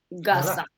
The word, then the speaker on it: garçon: So no, c'est un garçon. Voilà. Okay. Garçon. But notice here I don't pronounce the N. Okay, Garçon. it's a nasal. It's like on. I pronounce through my nose.